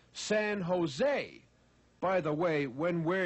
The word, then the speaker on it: San Jose: how much she loved San joose my dear lady said the man in California we pronounce All J's as H's we say San Jose by the way when